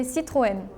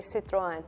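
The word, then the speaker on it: Citroën: like okay acceptable yeah in France we say Citroen I know we are not famous oh in Spain it is quite famous yeah we have plenty in Japan we sayen in Turkish we say Citroen German we would like try to say like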